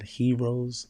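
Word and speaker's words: Herose: can find me at heroes fitness and it's spelled h-e-r-o-s-e because he rose again you know um but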